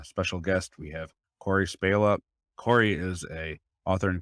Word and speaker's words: Spala: my last name correctly most people say it wrong and say spala but thank you so much for saying it spela that really got me